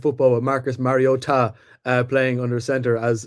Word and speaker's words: Mariota: Yeah, I think the Commanders actually didn't play a bad game on something like football with Marcus Mariota uh playing under center as as Mike Tico